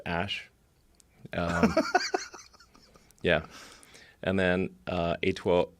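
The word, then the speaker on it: Æ: letter x and then the AE is like pronounced Ash yeah and then uh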